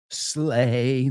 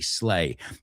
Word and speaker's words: sleigh: Oh, dashing through the snow in a one-horse open sleigh. That's right. The word sleigh is three nail. And that's a weird one because it's spelled S L E I G H. Sleigh. Slay.